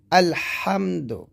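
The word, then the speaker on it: الْحَمْدُ: যেমন এখানে আছে আলহামদু, এই যে এখানে হা, এটা হলো হলকের মাঝখান থেকে আমরা বলবো আলহামদু, আলহামদু এরকম। তো যদি আপনি এটা আলহামদু না বলে আলহামদু বলেন,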